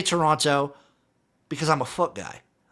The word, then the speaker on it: Toronto: Don't pronounce the second T in Toronto. You like to say Toronto? Is that how I should pronounce it? Not Toronto. I like to say Toronto because I'm a foot guy.